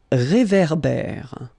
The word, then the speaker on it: réverbère: Un réverbère. Final not pronounced. Un ré. So here you've got this accent aigu, et, and then here you've got this accent grave, é. Okay, et, é. So it goes like réverbère.